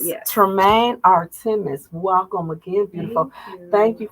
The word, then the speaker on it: Tramaine Artre'mis: Tell the viewers your name so we can pronounce it correctly together. Absolutely. My name is Tramaine Artre'mis. Tramaine Artre'mis. Yes. Tramaine Artre'mis.